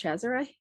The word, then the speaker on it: Cesare: Well, it's an Italian name, and as far as I'm aware, it's pronounced Cesare.